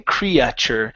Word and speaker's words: creature: this word here uh we don't want to pronounce the E and the a okay saying creature it's only cre creature creature good okay it looks